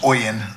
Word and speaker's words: OLLN: And the folks, leadership, Latinx, just so you know, it's pronounced as OLLN, O-L-L-N, Oregon Leadership.